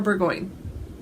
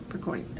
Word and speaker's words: Burgoyne: Is it Bergoni or Burgoyne? Dang it! I was so confident. Now I'm questioning myself. Well done on the pronunciation of her surname. Burgoyne. I think there's no E at the end. It's just Burgoyne.